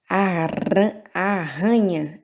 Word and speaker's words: arranha: Arranha, arranha. Viram que é mais arrastado o som?